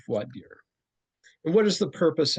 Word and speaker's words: voir dire: And uh some people pronounce vadier as vorire but the more common pronunciation is vadier.